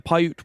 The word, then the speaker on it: Paiute: The curse lasted through the Paiute Wars of 1860 and still lingers today with